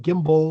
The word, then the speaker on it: gimble: Make the G hard in gyre and gimble.